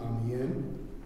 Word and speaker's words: Amiens: through the city of Amen which is the focus of this exhibit am m i ns don't pronounce the S I'm doing some work